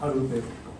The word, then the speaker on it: ALBERT: 読み方はアルベルト。